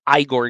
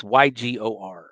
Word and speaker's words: Ygor: I'm going to assume it's Igor because it's spelled with a Y. It's Ygor.